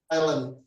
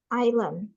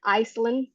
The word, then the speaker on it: island: how about this one island island island yes so it's not Iceland so it's island s it's also silence ok how about this one the Next one.